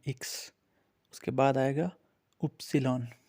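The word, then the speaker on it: Ypsilon: उसके बाद आएगा उपसिलॉन। ये वाई है इंग्लिश में, लेकिन इसको जर्मन में हम लोग उपसिलॉन बोलते हैं।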